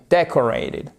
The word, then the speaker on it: decorated: Voyez là, ce O, il est prononcé comme un E atténué. Decorated.